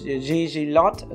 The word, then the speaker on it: Gglot: except the name because uh the name is gg lot so it's a little bit difficult for mathew to pronounce this correctly so we can correct it